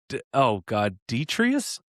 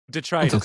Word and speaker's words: detritus: He's hauled new Detrius? Diatris? No, I'm terrible at spelling and pronouncing. Yeah. Oh, how do you Detrius? Diatria? Detrtus? It's a great question. God. Detritus.